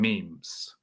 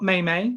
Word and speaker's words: meme: memes well just memes the correct way to say meme according to oxford english dictionary is meme not maymay or mimi the definition is an